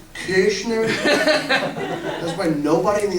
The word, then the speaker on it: Koechner: try to pronounce it kishner which would be closer to the correct pronunciation of my last name but I grew up